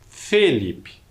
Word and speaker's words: Felipe: Felipe é um som com uma vogal mais fechada. Felipe.